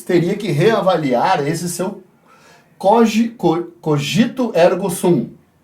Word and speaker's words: cogito ergo sum: Descartes teria que reavaliar esse seu cogito ergo sum. Não sou muito bom em latim, mas acredito que seja assim a pronúncia. Cogito ergo sum.